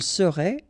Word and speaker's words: serait: Il serait, elle serait, final T not pronounced.